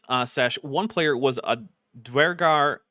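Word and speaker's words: Duergar: Also, the Dwergar, which is how I'm going to pronounce it, because that's how virtually everyone in the Anglosphere pronounces that word, and how it's spelled.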